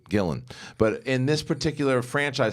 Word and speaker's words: Gillan: this franchise so much you didn't pronounce her last name right. Gillan.